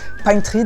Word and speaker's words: Pine Tree: Pine Tree d'ailleurs, il faut le prononcer à la façon doublage de série américaine par des Français. Donc Le voleur de Pine Tree.